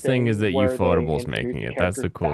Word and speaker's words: Ufotable: Wait, is it UFO table or Ufotable? Like, I heard it's UFO table based on pronunciation.